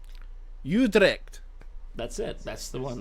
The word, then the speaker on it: Utrecht: This time in Utrecht. Utrecht? Oh, the Netherlands. How do you even say this? How to pronounce Utrecht?